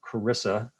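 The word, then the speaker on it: CRRSA: half billion dollars of i think it's called carissa is the way the acronym is pronounced and uh no new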